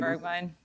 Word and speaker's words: Bergwijn: And actually, if you have not heard, one of his main players, that's Steven Bergwijn. Is it Bergwijn or Bergwijn? Well, how do they pronounce it? Bergwijn. Bergwijn, yeah.